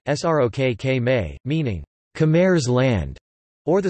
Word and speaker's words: ស្រុកខ្មែរ: Colloquially, Cambodians refer to their country as either Srok Khmer, Khmer pronunciation, Srok Khmer, meaning Khmer's land, or the slightly more formal, pre-Kampuchi Khmer pronunciation, pr, te kam.pu.ci, literally, country of Kampuchea.